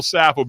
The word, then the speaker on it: Saffo: the mayor of Wilmington North Carolina Mr Bill sapple Bill welcome to the show thank you basil